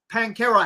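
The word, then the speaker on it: Banchero: How I I forget how do you pronounce the guy's name on Beno? Yeah, Pancero.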